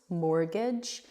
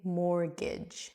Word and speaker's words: mortgage: Mortgage. We completely ignore the T there. So that's a silent T. We just say mortgage.